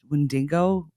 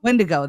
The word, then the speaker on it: Windigo: have the wind uh I always say it wrong the wind windo uh windo windigo there you go we have the windo